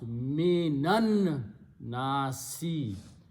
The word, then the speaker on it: مِنَ النَّاسِ: So we purposely change the sound of this to a fataha and pronounce minan nasi.